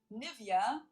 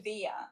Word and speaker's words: Nivea: English native speakers usually say Nivea. Nivea. In German, we say Nivea. Nivea. Yeah. Nivea. So, the emphasis is on the E.